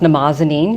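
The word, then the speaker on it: Mnemosyne: It's also pronounced Namazanine. We did test, and whenever we said Namazanine, people went, And if we said Mimnazine, like, So we went with that pronunciation.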